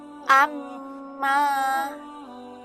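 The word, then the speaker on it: أمَّا: Sehingga cara membacanya adalah didengungkan dan ditahan dua ketukan. Cara membacanya yaitu amma.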